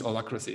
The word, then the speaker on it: Holacracy: It's H-O-A, H-O-L-A, not O, H-O-L-A, Hola, right? Yeah, I guess yeah, that's Holacracy.